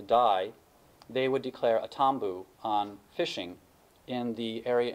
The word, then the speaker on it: tambu: in Fiji, they have a concept called tambu. It's actually a word that we have in the English language, but the British, who always seem to misunderstand local words, mispronounced it and became the word taboo in English.